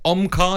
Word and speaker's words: Omkar: Is it Omkar? Is that how I say it? Yeah, that's correct.